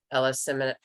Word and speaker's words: eleemosynary: permit use for schools and educational institutions, philanthropic, eleemosynary, I always mispronounce it. Eleemosynary, thank you, or religious institutions.